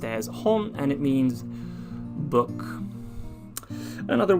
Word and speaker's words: 本: would be just the kanji by itself it's pronounced as hon and it means book another word would be